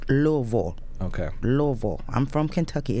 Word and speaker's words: Louisville: Redmore Live Music, and Saturday we'll be at Louisville at Diamond Pub and Concert Hall. Yeah, Louisville. That's my stomping Louisville. ground. I pronounced it wrong, right? It's Louisville. Okay. Louisville. I'm from Kentucky. It's Louisville, not Louisville.